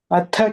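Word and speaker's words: अथ: Atha chittam samadhatum na shaknoshi mayi sthiram abhyasa yogena tataha mamichhaptum dhananjaya. Here atha, that is like Mahaprana.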